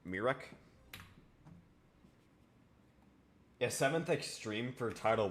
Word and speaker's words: Mrekk: Yeah, Mrekk. It's like Mirek.